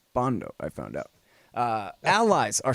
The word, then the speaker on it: Bandow: When you pronounce it correctly, it's Bandow, I found out.